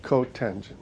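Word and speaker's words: cotangent: coent or cot so we don't say cot we say coent secant cosecant okay now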